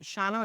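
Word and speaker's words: Shawano: Shao airport and the Carter airport that is pronounced shano it's easy s and then Carter 92c if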